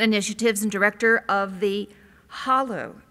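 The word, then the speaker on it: Halle: He is the Vice Provost for Global Strategies and Initiatives and Director of the HOLLO Institute, which I always say Holly, and he's trying to help me pronounce it correctly, Institute for Global Learning at Emory.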